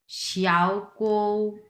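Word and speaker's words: 小狗: আচ্ছা যাই হোক, তারপরে এই যে দেখো শিয়াও কৌ, শিয়াও কো। শিয়াও কৌ, এটা 2 নাম্বার টোন উচ্চারণ হবে, কারণ দুইটাই পাশাপাশি কিন্তু 3 নাম্বার টোন।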